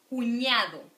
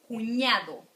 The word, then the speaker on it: cuñado: Hermano, repeat with me, hermano, niña, cuñado. Let's repeat this again because the ñ, it's really important. Cuñado, cuñado, ña, ña, good.